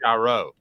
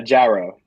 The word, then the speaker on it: Charo: first met you but it's it's Charo yeah pronounce it one last time uh gyro gyro all right Calhoun you practice gyro basically gyro but really really really really really thick southern accent person said it gotcha